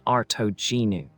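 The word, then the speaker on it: Artognou: The name was Artignu pronounced Arto Genu and it appeared in a Latin inscription that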